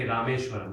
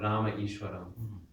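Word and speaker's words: रामेश्वरम्: Just like we say Isha Upanishad. We cannot keep saying Isha Upanishad. We say Rameshwaram, not Rama Ishwaram.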